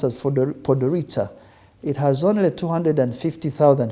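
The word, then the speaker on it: Podgorica: with its beautiful touristic city called podorita It's pronounced as podorita it has only 250 000 people the city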